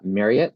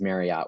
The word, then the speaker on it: Marriott: a little tidbit um it's pronounced uh Marriott like Chariot uh versus Marriott which I know a